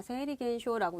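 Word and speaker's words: 生理現象: 세리겐쇼라고 읽는구나.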